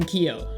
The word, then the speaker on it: Keeoh: question one how did you get the name kio so my original name on twitch was kio3 it's actually pronounced ko keo3 ko means joey and hawaiian and my